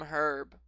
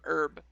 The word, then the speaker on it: herb: Consume herb. Or, sorry, consume herb. The H is silent.